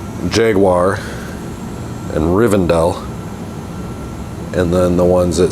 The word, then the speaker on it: Rivendell: it's Riverdale and it's Riven Dell I mean I just don't know where anybody would get rivendale out of that word but they do or